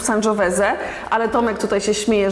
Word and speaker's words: Sangiovese: Piter dobra kochani oczywiście wymawiamy w bardziej włoski sposób sanżoweze ale Tomek tutaj się